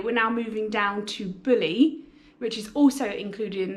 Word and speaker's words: Bulli: It's actually pronounced Bulli. That's what my barber told me anyway.